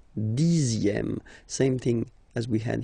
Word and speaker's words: dixième: Le dixième, so remember, even if you've got this Z, X here, you pronounce it Z, dixième, dixième, same thing as we had here, sixième, okay, le dixième, la dixième.